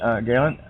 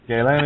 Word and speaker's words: Galen: And actually, while I've got you on, Galen, it's Galen, yeah? Yeah, whatever. Okay, well, how do you say it? Well, it's just a made-up name, and nobody's ever pronounced it but you, so that's how I'm going to pronounce it. Galen it is.